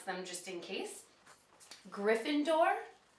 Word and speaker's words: Gryffindor: the four Hogwart houses they're all pronounced the way they they look but I'm going to pronounce them just in case Gryffindor Ravenclaw Hufflepuff and and